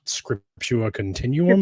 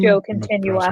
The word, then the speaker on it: Scriptio Continua: time they're writing in what's called Scriptura Continuum. Scriptio Continua. Right?